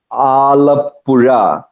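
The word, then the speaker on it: Alappuzha: beautiful place full greenery this place is called alapura little difficult to pronounce or you can name it alapi that's what they say in english alope it is somewhere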